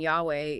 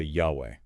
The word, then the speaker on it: Yahweh: in ancient Hebrew but I've heard people say Yahweh Yahweh is what a lot of Scholars think is the most likely pronunciation based on the evidence we do have okay so Yahweh is